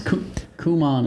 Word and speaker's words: Kumon: This is Kumon is how you really pronounce it.